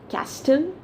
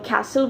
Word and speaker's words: castle: correct pronunciation also so what is the correct pronunciation is it castle no castle no but then what what is it it's